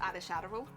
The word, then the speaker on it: Ad Shadowroll: People might not realize that from looking at the name, but it's pronounced Ad Shadowroll.